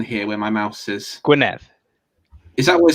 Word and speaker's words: Gwynedd: Gwynedd. Is that what it's called? Yeah, it's Gwynedd. Yeah. Oh, I thought it was like Gwynedd on the Llŷn Peninsula.